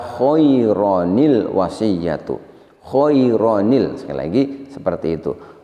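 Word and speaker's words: خَيْرًا الْوَصِيَّةُ: Kita baca khairul dengan cara diidghamkan. Ini tidak pas. Yang betul adalah kita bacanya adalah dengan mengganti tanwinnya diganti dengan nun iwad atau ada yang menyebut dengan nun silah. Nun silah ini selamanya berharokat kasroh sehingga kita baca khaironil wasiyatu.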